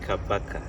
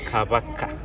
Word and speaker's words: Kabaka: I would like to make a simple correction on the Sure. pronunciation. Yeah, You said Kabaka. yeah, So it is Kabaka.